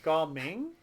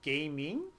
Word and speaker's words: Gaming: This has been the joke of the internet because you're supposed to pronounce it Gao Ming, but people keep saying gaming because it looks like gaming.